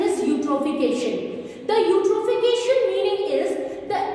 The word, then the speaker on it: eutrophication: Its pronunciation is eutrophication. Its pronunciation is eutrophication.